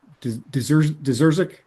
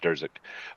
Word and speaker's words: Durzik: Deserzik? Andrew going once? There, can you hear me? Yep, we're good. All right. It's it's pronounced Durzik, but Durzik.